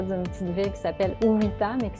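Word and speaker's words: Uvita: Ceux qui veulent regarder près d'une petite ville qui s'appelle Uwita, mais qui s'écrit Uwita.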